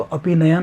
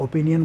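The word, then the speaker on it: opinion: ही is agree with your ओपिनियन या अपिनयन, वो तुम्हारी अपिनयन से, सही उच्चारण तो अपिनयन होता है बट हम लोग ओपिनियन बोल देते हैं।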